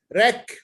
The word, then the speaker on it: wreck: W is also sometimes not pronounced.